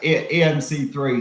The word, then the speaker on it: EMC3: Is that how you say it, EMC3, or do you say EMC cubed? I don't know what. Yes, no, EMC3, so it stands for every moment counts.